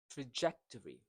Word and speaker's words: trajectory: Trajectory. So the second syllable is stressed.